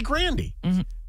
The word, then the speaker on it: Grande: no no well yeah it's like Ariana Grande if she said Brandy to start we would have called her absolutely but she never did but her name's actually Grandy but either her or the label was like but people know Grande because of Starbucks yeah yeah yeah absolutely